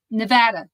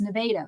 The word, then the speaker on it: Nevada: They keep saying Nevada, and it's like, no, it's Nevada.